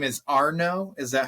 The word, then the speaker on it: Arno: I want to So your last name is Arno.